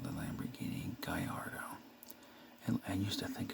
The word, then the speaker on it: Gallardo: is a lamborghini people get a hard time pronouncing this is the lamborghini gallardo not gallardo or any weird name and the weird pronunciation